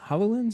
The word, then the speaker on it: HoloLens: they came up with this this hollow hololens hololens is how you say it yeah demo and